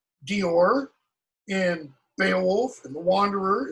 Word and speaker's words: Deor: Now, one of you in your article summary, you made the comment that the poet in Deor, or Deor, as it should be pronounced, is, talking about something along the lines of physical suffering, because that was common in the Anglo-Saxon period.